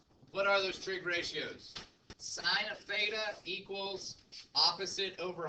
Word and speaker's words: sine: For example, the sine of angle A is written as sine A. By the way, I know that it's sin, cos, tan. It's pronounced sine, cosine, and tangent.